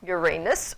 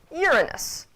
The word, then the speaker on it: Uranus: We're used to starting it with a ur, and either saying Uranus or Uranus. Which one in Latin would be correct seems to still be debated, though most people lean toward the Uranus pronunciation as being the Latinized version.